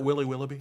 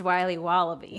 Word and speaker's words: Wiley Wallaby: Can I have a piece of that Willy Willoughby? Wally Wibbly. Wiley's Wallabies. Wallaby Wallies. Wilby Wobbaby? It's pronounced Wiley Wallaby.